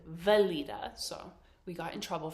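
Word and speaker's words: Weleda: both use it so he asked for the wiita skin food and she was looking at him she's like you know the one like with the green container she's like valita so we got in trouble for pronouncing it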